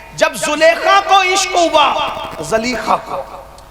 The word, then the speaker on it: زلیخا: اپنا مذہب چھوڑا۔ عشق کا دستور ہے، جب زلیخا کو عشق ہوا، زلیخا کو، تلفظ میں نہیں الجھاتا، اصل تلفظ تو زلیخا ہی کہا جاتا ہے، زلیخا کو جب عشق